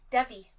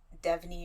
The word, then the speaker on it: Devi: Devi. Okay. I thought you said Devney or Debney or something, and No. I just needed clarification. Devi, however you want to pronounce it.